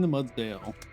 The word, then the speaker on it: Mudsdale: A little Shaman again, and I'll say it correctly this time, the Mudsdale.